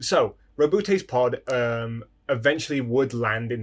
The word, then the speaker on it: Roboute: Back to Roboute. That is how you pronounce his name, by the way.